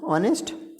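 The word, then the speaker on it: honest: तो 12 होते हैं ऑनेस्ट तो आ आ रहा है ओ ऑनेस्ट तो इसलिए यहां स्वर साउंड होगा एवरीवन रिस्पेक्ट्स एन ऑनेस्ट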